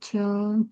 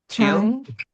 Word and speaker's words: child: Parents expect the oldest child to be an example for the younger children to follow. Thank you, Marcia. What is the pronunciation of this word? Chill? Child. Yes, it's child.